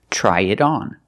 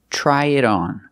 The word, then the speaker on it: try it on: thing you use it try it on but the T in it is a fast D because it's between vowels so pronunciation try it on try it on so